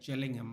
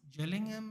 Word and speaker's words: Gillingham: if I'm not but sorry jelling ham I think it's pronounced jelling ham is in I'm going